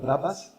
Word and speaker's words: Brabus: your Rolls Royces and your how do you pronounce that word? Brabus.